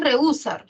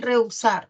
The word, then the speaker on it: reusar: La H no cuenta y tú tienes una E con una U, forman un diptongo, nunca se separan. No es reusar, ¿no? Es reusar. Entonces, formas un diptongo, no lo separes.